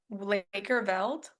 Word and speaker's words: Lakerveld: outs and then Lakers Lakerveld? Yep. Is that how you say his name, Lakerveld?